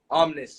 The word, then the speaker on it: Omnes: Omnis, yeah.